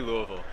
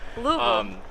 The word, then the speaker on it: Louisville: You kind of have to slur it. But Yeah, Louisville. yeah, but that's the only tell that I'm from. Do you think people will think I'm from Louisville if I say it like that? If you struggle with it, no. It doesn't come naturally. They're gonna call you out immediately. It has to be Louisville.